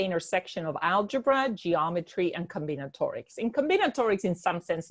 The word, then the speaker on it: combinatorics: So according to your bio, it says your research is in finite geometrics and forgive me if I pronounce this incorrectly, combinatorics.